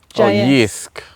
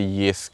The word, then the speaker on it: Jysk: I've put down Jysk. Oh, I think they pronounce it Jysk, Jysk.